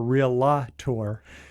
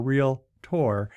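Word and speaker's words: Realtor: pronounced it right you didn't say real la ti or real la tour which which people get wrong it's uh there's only two syllables in those words it's real like as in real estate and tea or real tour so sorry i didn't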